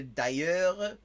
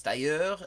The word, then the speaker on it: d'ailleurs: Like, what she said, if you say d'ailleurs, in France, it's d'ailleurs, and it's a retroflex R. It's all the way in the back of your throat, like French R's generally. But in Quebec, you have the syllable final R that is actually like a very soft anterior R.